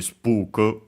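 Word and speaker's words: スプーク: So with the long vowel uh the at the end for because k can stay on its own as usual. Uh also for the sue technically the one in the sue is barely heard if at all because it's within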